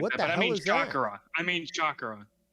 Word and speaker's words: chakra: go in depth it's it's pronounced chakra going to Indian